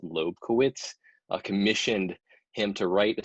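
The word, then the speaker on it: Lobkowitz: until 1798 when prince i believe it's pronounced loeb kowitz commissioned him to write a series of quartets six quartets which ended up being opus 18.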